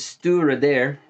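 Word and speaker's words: Stiùireadair: this video is about now this one is stura there pronounced at least according to the back label that's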